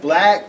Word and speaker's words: BLVCK: It's called Black, but it's spelled BLVCK.